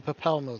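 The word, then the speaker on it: Papalymo: The masked woman is Ida, and beside her is Popolimo. The two are charged with Papalmo. surveying the Twelveswood. Can't lie to me. It's clearly Papalmo. The Y is silent.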